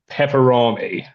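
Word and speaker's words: Peperami: a fellow Brit uh salami sticks mate pepperami it is pronounced pepperami.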